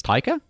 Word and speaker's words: Taika: it off by saying my name is taika spelled just like tiger or however he says it in his accent uh but instead of